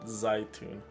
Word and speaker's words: Zaytun: In my language, you would pronounce it Zaytun, which is not a peach at all. Zaytun is olives.